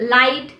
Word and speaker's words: light: The letter G is also not pronounced when it comes before an H and after a vowel. For example, in words such as light, high, tough, through, the